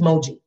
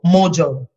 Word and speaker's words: Moji: you my name is moji okay cool we've done that and then it becomes oh mojo and it's like it's four letters two syllables four letters two syllables